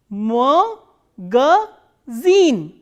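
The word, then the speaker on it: магазин: the e none and this e is stressed and rest of the world are unstressed so this these two are will be pronounces Oh more girl zine magazine so we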